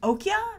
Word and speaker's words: Okja: supposed to be pronounced Okja, because it's like the European J. But either way, Cannes wasn't having it. And the headline is, Okja, I'm just going to go with Okja, because it sounds better to me.